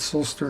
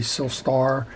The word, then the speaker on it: Silstar: sister way so and i apologize if i'm pronouncing it silster and it should be silstar uh well that's just